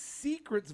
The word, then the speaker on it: Seacret: It's Secrets vodka.